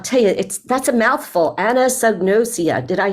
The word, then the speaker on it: anosognosia: And man, I'll tell you, that's a mouthful, anosognosia.